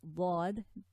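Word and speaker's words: ض: So when we say Dad, the tongue sort of tilts a bit on the left side, and the pressure is around here.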